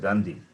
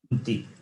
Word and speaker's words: कान्ति: Kanti. The problem is, it is Ka is there, we pronounce it as Ga. And Ti is there, the same mistake. Ti is pronounced as Dhi.